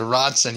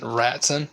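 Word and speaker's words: Rotson: Yeah, the Rodson. Yeah, I think it's spelled with an O, but yes, it's ROT, not RAT. That Ratson? No, I think it's rot, like wood rot.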